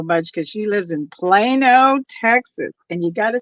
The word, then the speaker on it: Plano: love Christie so much because she lives in Plano Texas and you gotta say it like that